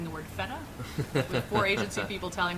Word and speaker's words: feta: feta and they're saying no no you're saying feta wrong you got to say more emphasis on the ETA and I'm like okay feta and they're like no